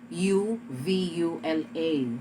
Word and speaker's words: uvula: sometimes it is spelled u v u l a so when it is l spelled u v u l a then you have to call it uvula the last one is